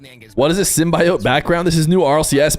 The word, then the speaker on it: symbiote: Please enunciate symbiote.